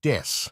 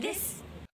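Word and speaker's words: です: introduces themselves, they will use a pun with the English word death instead of the Japanese word des. BABYMETAL des. As des means I am or we are, and is pronounced similarly.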